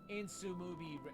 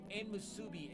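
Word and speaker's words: Enmusubi: official name is izumo insu movie airport okay let me try that again man I butchered that pronunciation I made it to izumo airport its official name is izumo and Musubi Airport it fits a romantic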